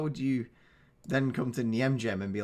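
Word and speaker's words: Nijmegen: just before this the knockout stage unveiling against Niemgem, and that is definitely how it's pronounced.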